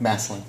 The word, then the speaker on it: Massillon: Did I pronounce that right? Massillon.